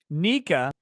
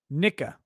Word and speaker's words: Nika: Pronounce Nika. Some stress on the knee. Nika.